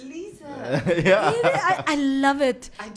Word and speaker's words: Lize: instagram and facebook at lisa can i spell it l i z e because my name is not liz my name is not rice my name is not lizard do you know when